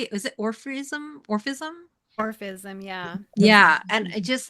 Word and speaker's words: Orphism: Orphism, yeah.